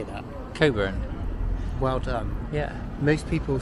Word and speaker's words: Cockburn: Are you going to pronounce it properly? Do you know how to say that? Coburn. Well done. Yeah. Most people say it cockburn like it's spelt. Yes. But it's actually courn.